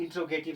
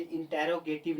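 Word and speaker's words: interrogative: होता है, और नेगेटिव इंट्रोगेटिव सेंटेंस होता है। Guys point to be noted, यहाँ इंट्रोगेटिव सेंटेंस है, इंटेरोगेटिव नहीं होता। Guys point to be noted, it's correct pronunciation is इंट्रोगेटिव, नॉट इंटेरोगेटिव।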